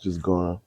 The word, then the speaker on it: Ghana: Wait, which countries Ghana? Ghana. That's how it's pronounced.